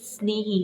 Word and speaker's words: स्नेही: तो देखिए, स्वदेश कविता के रचयिता गया प्रसाद शुक्ल स्नेही स्नेही इसे पढ़ते हैं, लेकिन इसका प्रोनाउंसिएशन स्नेही होगा।